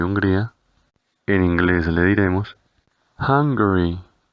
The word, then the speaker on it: Hungary: Para el caso de Hungría, en inglés le diremos Hungary, Hungary. Tengas en cuenta que la pronunciación de la letra U sonará como una A.